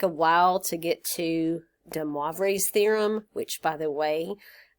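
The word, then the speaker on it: de Moivre: look up the pronunciation, and it's DeMoivre, M-O-I, DeMoivre's theorem.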